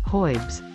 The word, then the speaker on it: herbs: But I always did believe in herbs. My mother always believed in herbs. Herbs. How do you say it? Herbs. Herbs. No, I say hoibs.